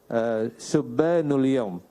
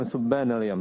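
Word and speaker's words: شُبَّانُ اليَوْم: Pertama yang betul itu adalah subhanul yaum. Jadi bukan subhanal yaum, subhanul yaum wa rijalul ghad.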